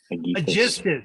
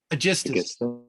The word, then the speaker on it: Aegisthus: was first to speak, sorely troubled, remembering handsome Aegisthus.